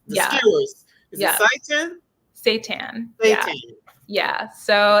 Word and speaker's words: seitan: Seitan.